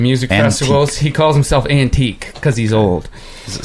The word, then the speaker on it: Anteeq: He calls himself Antique because he's old. Is it spelled in a crazy way? Yeah, it is. It's spelled Anteeq.